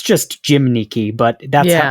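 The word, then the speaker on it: gymnici: So, yeah, it's it's that sound that's like you make your mouth in the shape of a U, but you say an E behind it.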